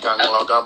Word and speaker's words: Anloga: Yeah, you have to put like a G in between the N and the L. Angloga. You know, so that's how you get like Angloga. Angloga. Oh, okay. Like Angloga, but the G is silent though.